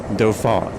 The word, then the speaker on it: Dauphin: Dauphin.